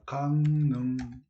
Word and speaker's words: 강릉: 그래서 x 그다음 3번 강릉을 발음할 때 일어하는음 변동에서 좋은 방법만 한번 배다 강능 이거 뭐다 비음화 그러면 리을이 니은으로 변한 거잖아요 리을이 니은으로 변하면 뭐가